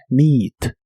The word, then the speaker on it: meet: La doble E de esta palabra se pronuncia como una I larga o doble. Meet, meet.